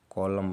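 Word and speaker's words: column: यदि किसी वर्ड के अंत में यम यन एक साथ हो तो यन साइलेंट हो जाता है, जैसे कि ऑटम मतलब पतझड़ होता है, ऑटम। कॉलम मतलब स्तंभ, कॉलम, सालम।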